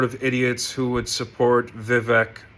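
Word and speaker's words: Vivek: idiots who would support Vivec. Vive is how he says it. Why would you pronounce somebody's name correctly if they're a scumbag?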